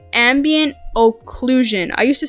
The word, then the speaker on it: occlusion: wrong but it's ambient occlusion I used to say inclusion there's no in anywhere in occlusion so I don't know